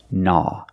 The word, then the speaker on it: gnaw: and this word is gnaw remember the g is silent because it's at the beginning of the word with GN together nah the aw makes it sound awe like ball and call all nah nah means to